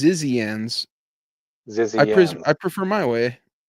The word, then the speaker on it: Zizians: The Zhejians, that's what I said. Zhejians. Oh, she Zhejians? said it's pronounced Zizians.